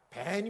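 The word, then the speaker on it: בן: 것이 돌려 뜻이 근데요 아들이라는 뜻이 무슨 발음이 어떻게 하는지 아세요 밴 입니다 밴 이런 베냐민 아시죠 왜냐면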